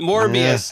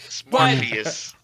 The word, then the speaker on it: Morbius: Oh, no. Morbius. Yeah, he mistyped it. Morbius. And I said it wrong. Morpheus.